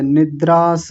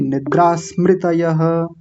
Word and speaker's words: निद्रा स्मृतयः: निद्रास नहीं निद्रा स्मृतयः निद्रा स्मृतयः हां इसको आप आधा रखिए पूरा मत कीजिए निद्रास ऐसा नहीं निद्रा स्मृतयः ठीक है निद्राय नहीं अभी भी पूरा कर रहे हैं और ये गलत उच्चारण है निद्रा स्मृतयः निद्रा स्मृतयः नहीं अभी भी गलत है।